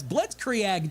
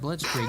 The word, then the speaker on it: Blitzkrieg: She says, "Blitz creag day." What the I go, "Okay, so she can't pronounce that."